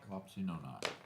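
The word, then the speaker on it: Wapsinonoc: 6 bridge over the east branch of the Wapsinock, how do you say that? Wapsinock? Wapsi-no-not.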